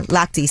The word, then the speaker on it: Lochte: Yeah, Lochte.